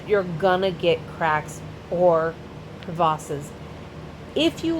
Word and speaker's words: crevasse: We call them crevasses. I know, it's how it's pronounced, crevasse. Not crevice, crevasse, because French is a language.